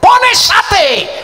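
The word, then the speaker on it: φωνήσατε: Pone sate. Panggil dia pone sate. Sate. Bukan sate gitu. Bukan panggil tukang sate bukan saudara gitu. pones mestinya dibacanya gaya batak. Ponesate sate sate gitu ponesate.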